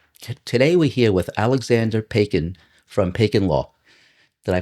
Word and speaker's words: Paykin: Today we're here with Alexander Pacin from Pacin Law. Did I pronounce that properly?